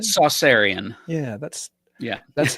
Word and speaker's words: Saucerian: I pronounce it Saucerian.